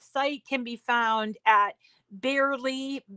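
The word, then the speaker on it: Bearly: This site can be found at Barely, it's spelled B-E-A-R-L-Y, because that's their mascot, is a bear.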